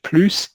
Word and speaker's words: plus: to know is that sometimes the S is pronounced en plus. It's pronounced plus, even though that breaks the rules that you learned in your grammar classes. Because the rule you learned was a final S is not going to be pronounced. But the French have to pronounce it to distinguish between more and no more, or like no longer. They have to pronounce this S when it's not negated, when there's no negation.